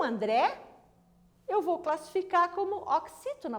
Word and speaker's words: André: André, professora, é a última sílaba do seu nome, não é?